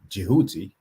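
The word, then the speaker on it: Djehuti: And as we went through the word that the Greeks called thought, which is more likely pronounced Jehuti, she told me, well,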